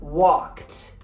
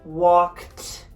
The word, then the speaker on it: walked: For example, the word walked. What did you just hear? You heard walked. You heard the t, right? That sounds like a T.